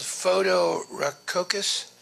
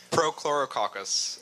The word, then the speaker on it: Prochlorococcus: What was that process you called photorococcus? Would you pronounce it? I didn't. Prochlorococcus.